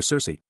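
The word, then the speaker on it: Circe: of the Odyssey where Cersei pronounced with the hard CH sound as the daughter of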